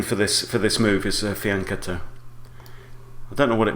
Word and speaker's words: fianchetto: A lot of people say fianchetto because it's spelt with a CH, but in Italian that is pronounced k, not ch, as it would be in English.